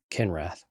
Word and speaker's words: Kinrath: rhymes with empath? No. Kinrath.